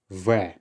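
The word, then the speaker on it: В: By now you've probably gathered that this is not the letter B. Instead, this is the Russian letter V. V. So essentially this is the letter V.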